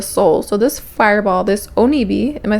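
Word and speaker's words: 鬼火: So, this fireball, this onibi, am I saying it right?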